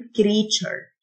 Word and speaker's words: creature: مخلوق أو كائن creature، التيو تنطق التشه، creature.